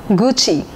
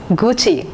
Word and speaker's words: Gucci: in the list is Gucci yes Gucci I've heard many people pronouncing it as Gucci Gucci it's Gucci Gucci is an Italian